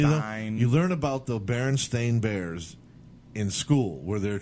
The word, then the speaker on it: Berenstain: with certain things like the Berenstein bears like that was just a min see that right that's a mispronounced bear yeah mispronunciation Stein so somebody you know just pronounced nono herons thing the Berenstain and it and it's